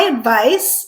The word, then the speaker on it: advice: My advice is to sell your house while the market is hot. Advice, unvoiced. Advise, voiced.